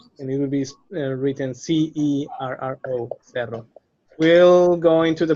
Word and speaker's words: cerro: So that's why cama sounds cama, but there is another case, which is cerro, which means mountain, and it will be written C-E-R-R-O, cerro. We'll go into the pronunciation stuff later.